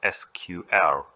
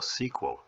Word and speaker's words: SQL: Just for reference, it can be pronounced as SQL or SQL. The SQL pronunciation is common in English-speaking countries due to SQL's origin from the term Structured English Query Language, SQL, of IBM.